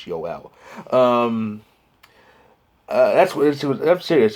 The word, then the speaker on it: Joel: with the european pronunciation yowell erickson ick that's the correct way to say it it's ul we kind of anglicize it as joel but it's yoel um that's what i'm